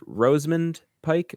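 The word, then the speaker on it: Rosamund Pike: ready for another lesson is it pronounce pronounced Roseman Pike or rosemund do ioun the a Roseman that's how I always said it yeah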